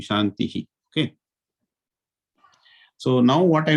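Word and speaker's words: शान्तिः: After the end, whenever there is an end of sentence, the Visarga has to be fully pronounced, Shantihi, like that. It will be Shantihi.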